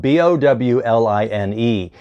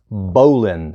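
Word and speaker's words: bowline: at this knot this is called on paper it's spelled b-o-w-l-i-n-e it's not pronounced bow line it's pronounced Bolin everybody practice bowling don't go up to somebody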